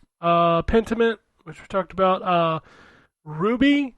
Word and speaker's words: RWBY: Ruby, I think is how you pronounce it, Arrowfell, that RWBY series.